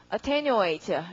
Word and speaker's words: attenuate: 발음은 어떻게? attenuate 이럴 테고 되게 이런 건 굉장히 어려운 단어입니다. attenuate. 동그라미는 어디다가 테뉴 하시고 이것이 thin 마른 얇은이에요.